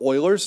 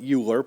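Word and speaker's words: Euler: It is called oilers's number. Uh a lot of people pronounce it uler, but it's actually oiler.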